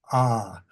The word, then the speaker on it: awe: And also a sense of awe, A-W-E, ah, to give it the American pronunciation.